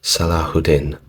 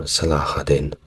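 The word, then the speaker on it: Salahuddin: best for memory and say that is pronounced salahudin or salahadin correct me in the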